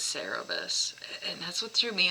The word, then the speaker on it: Cerberus: is that the dog no but cerebus is right i don't know no yeah it is him okay i just been saying it wrong sweet focus on humility